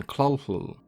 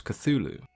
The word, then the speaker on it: Cthulhu: a fur ball so the pronunciation that is widely accepted and used today is of course Cthulhu in the years of